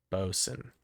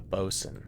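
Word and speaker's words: boatswain: Um, bosen. It's like the bow. The bow of the ship. a bosen.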